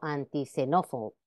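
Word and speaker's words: antixenófobo: Otro caso similar sucede cuando se antepone un prefijo o una palabra que comienza por X. Esta letra conserva la pronunciación como S, aunque no esté situada al principio. Por ejemplo, antisenófobo, xenófobo, ¿ok? O megaxilófono. En posición final de sílaba,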